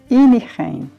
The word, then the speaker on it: Innichen: Antes de chegar à Áustria, passamos por uma pequena cidade que antes fazia parte da Áustria, a cidade de San Cândido, que em alemão se pronuncia Innichen.